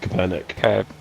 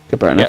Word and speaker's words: Kaepernick: I don't know how you pronounce his surname. Kaepernick. Kaepernick, Yeah.